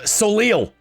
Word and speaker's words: Soleil: I think it wasn't until I played Fire Emblem Awakening that I figured out how to pronounce Soleil. I was like, oh yes, Soleil.